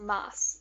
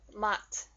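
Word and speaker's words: 맛: And another example, this is not okay, this is MA, then an S sound, but it's not pronounced mas. No. Because when Koreans talk, they kind of stop their voice. So it makes this turn into mat. It comes into a T sound.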